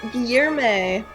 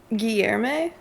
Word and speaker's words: Guillermo: Is it Guillermo with an E at the end? Guillermo. Lower your tongues, Terra. I'm trying. Guillermo. I'm trying to pronounce it correctly. Yeah, the L is pronounced more lie. Guillermo.